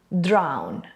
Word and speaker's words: drown: And the technique to remember its pronunciation is think of the word down, which is just the same, but now we add an extra R. Down, drown, down, drown.